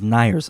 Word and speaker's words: Neir's: He tells me the right way to pronounce Neir's is Neir's. Of course, it's a German bar, but everybody says Neir's.